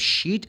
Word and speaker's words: sheet: at her but like she mispronounced she want to say sheit sheit can you give me a piece of sheet s h e t or maybe sheet is